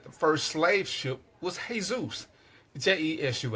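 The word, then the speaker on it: Jesús: do know that the first slave ship was hey-zeus je issue s cases because that's how we know Hispanics pronounce it the Americans would probably say Jesus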